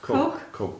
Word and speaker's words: Koch: And I can't remember how to say it, Cook or Cock? Koch Institute. Koch? Coke. Koch Institute Coke.